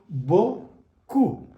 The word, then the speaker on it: beaucoup: E-A-U is pronounced as O. O-U is pronounced as U. It becomes beaucoup.